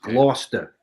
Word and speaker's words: Gloucester: great film I love that film it's it's pronounced loster written by John krackow I think right The